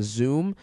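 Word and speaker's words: Xoom: first up they have the Motorola Zoom that is spelled X oom and it's a 10.1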